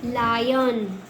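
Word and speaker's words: lion: एच आई आर E higher L आई एन लायन आर आई ओ T riot ठीक है? ये आई के उच्चारण के नियम थे।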